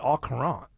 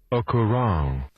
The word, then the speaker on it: au courant: And I always said au courant. I always pronounced the T, but apparently it's au courant.